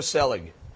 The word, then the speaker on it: Selig: Is it Selig or Selig? Selig.